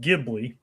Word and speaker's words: Ghibli: I mean Jibli itself named after an Italian plane as Jacob kind of alluded to. Sure. Even though technically the the actual word and plane is pronounced Gibli.